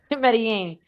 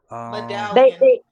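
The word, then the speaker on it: Medellín: No, I think you said it right with the yin. Yeah, Medellin. Medallion. Huh? You gonna get us banned by saying that. it's Medellin. Medellin, yeah, Medellin. You have to say yin.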